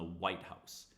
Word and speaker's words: White House: So every compound word, the first word is stressed, the pitch rises. On the second word, the pitch goes down and it gets secondary stress. White House. But if it's a descriptive phrase, we stress the second word stronger than the first word and the pitch rises.